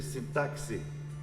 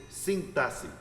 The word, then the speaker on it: sintaxe: Só corrigindo alguma pronúncia aqui, às vezes a gente escuta a seguinte pronúncia: figuras de sintaxe. Não é sintaxe, é figuras de sintaxe.